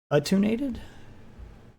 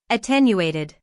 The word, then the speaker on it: attenuated: link to the defendant or charged crime is attunated.